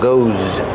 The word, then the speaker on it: goes: Put the S there, pronounce it like a z, like zebra, goes.